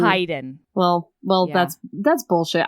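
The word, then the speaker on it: Haeden: one right and she recommended this one with Hayden and Josie heyen I found out we pronounced it wrong it's heyen well well that's that's I think it's Hayden still it's spelled with an A so whatever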